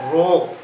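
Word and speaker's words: ρ: এই শব্দটা একটা গ্রিক শব্দ, এর উচ্চারণ হচ্ছে কি স্যার? রো।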